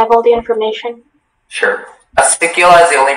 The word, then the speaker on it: acicula: Your word is acicula. Acicculum. Can I have all the information? Sorry, I think you misheard me. Acicculum. Acicula. Can I have all the information? Sure. Acicula is the only pronunciation.